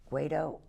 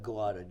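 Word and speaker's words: Guaidó: But you know, the problem is if is his name pronounced Guaido? Guaido, Guaido.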